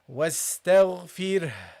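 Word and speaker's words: واستغفره: So you have to pronounce the ha. So you say wastaghfir. Wastaghfir. You see? You pronounce the ha at the end. Okay? Make sure that you pronounce this ha.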